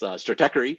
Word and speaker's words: Stratechery: It's still, as Sriram noted, is still pronounced incorrectly. It's Stratechery.